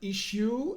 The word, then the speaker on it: issue: The symbol here in red is the sh sound.